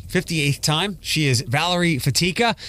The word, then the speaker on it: Fatica: She is Valerie Fatica. That's Fatica for those that like to mispronounce it.